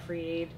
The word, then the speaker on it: Fr33 Aid: a ID com created is pronounced free but it's spelled FR 33 so FR 33 a